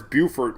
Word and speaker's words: Beaufort: I didn't become one Beaufort I know it's not Beaufort oh we got two people correcting me Beaufort hey you know Beaufort is Buford what are you talking